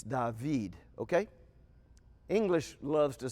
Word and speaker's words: David: the Hebrew d dalit this is the name David and it would be pronounced da vid David this is the this